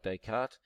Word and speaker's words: Descartes: got here their pronunciation it's a French word Descartes so it's pronounced like Descartes these subscript dies pronounced